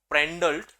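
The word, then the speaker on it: Prandtl: लिया था याद है पेंडल पेंडल उसमें टी साइलेंट होता है पेंडल यूनिवर्सल वेलोसिटी प्रोफाइल हमने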